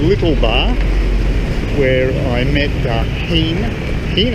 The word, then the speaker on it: Hien: Went back to the little bar where I met Hien, I think that's how it's pronounced.